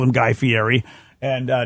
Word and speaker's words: Fieri: think he called him Guy Fieri and uh nobody knows how to say his name but it really is Guy Ferry that's true what's false